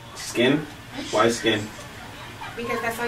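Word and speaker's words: Skyn: Skin. Skin?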